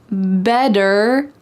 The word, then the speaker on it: better: Better late than never. Listen to that word, better. Is there a D in this word? Better? Are we talking about a bed that you go to sleep in?